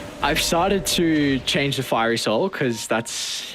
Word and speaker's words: Fiery Soul: But we still say Fury Soul instead of Fiery Soul for the leaner.